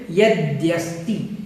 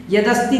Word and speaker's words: यद्यस्ति: तो सबसे पहले यद्यस्ति, यद्यस्ति बोलना है, यद्यस्ति यद्यस्ति इस प्रकार से इसका उच्चारण करना है। यदस्ति बोल देते हैं कुछ लोग, वो बिल्कुल गलत है। तो आपको यद्यस्ति बोलना है। द और या यहाँ पर मिला हुआ है, यद्यस्ति।